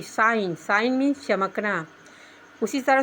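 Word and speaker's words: sign: उसी तरह से एस आई जी एन साइन साइन means हस्ताक्षर उसी तरह से है एफ ओ आर ई आई जी N foreign foreign means विदेशी सब में जी साइलेंट है इसी तरह से जी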